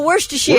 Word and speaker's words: Worcestershire: Oh, Worcestershire. Oh, yeah. You got it. Yeah, you got it. I just stick with what I do. Wash your sister sauce.